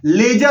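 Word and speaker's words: ledger: लेजर नहीं होता है, लेजर होता है। डी और जी ध्यान रखिएगा, दोनों कॉन्सोनेंट होता है। जब दो कॉन्सोनेंट साथ में आते हैं तो जो पहला कॉन्सोनेंट होता है वो साइलेंट हो जाता है।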